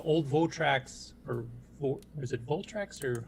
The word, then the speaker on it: Votrax: Here, Carlos actually published a little video on Facebook showing off the old Votrax, or is it Voltrax, or how do you pronounce that? Votrax, yeah.